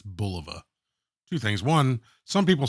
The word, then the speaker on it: Bulova: And I was just thinking, on my last video on the Bulova or Bulova, I think it's Bulova. Two things. One, some people said I mispronounced it.